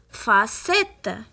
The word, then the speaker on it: facette: Le premier mot, on a E après le C, donc on la prononce S, facette.